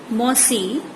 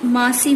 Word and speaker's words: मौसी: Mother's sister मौसी, इसको कहीं कहीं मासी भी कहते हैं, यानी माँ सी, मासी, बट सही प्रोनाउंसिएशन है मौसी.